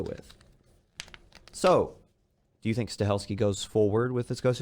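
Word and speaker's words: Stahelski: But John Wick, director Chad Stelinski, I pronounce his name completely wrong. Stelski, I keep want to put an N in there.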